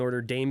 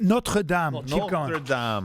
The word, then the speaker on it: Notre Dame: on how well and Order Dame is going to do this first of all it's pronounced Notre Dame uh I think Notre